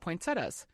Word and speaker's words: poinsettia: awesome, is we were going to talk about poinsettias.